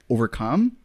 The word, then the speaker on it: overcome: you're saying overcome but if it's the single word overcome the emphasis is on that last syllable I would say you